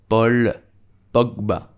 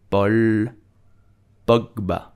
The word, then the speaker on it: Paul Pogba: We would say Paul Pogba. Paul Pogba. So in French, A, U make the sound O.